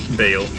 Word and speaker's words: Baal: yeah, in the game it's Baal. Like Christian Bale.